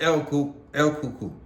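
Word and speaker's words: Alcolu: segregated Mid Town of alalo some some pronounce it El eluku majority pronounce it elu you say it however you want alalo South Carolina where the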